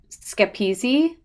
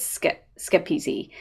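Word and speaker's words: Schepisi: directed by fred schepsi uh or skip skip easy i think is how you say it i had to listen to like a couple of other people saying it out loud but i think it's skip easy um this is based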